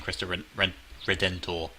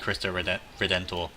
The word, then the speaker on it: Cristo Redentor: Nor do I need Cristo Redentor. Which I always fail to pronounce. I always forget the N.